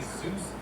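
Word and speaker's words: Dzus: Okay, this right here is a Zeus fastener. It's spelled D-Z-U-S.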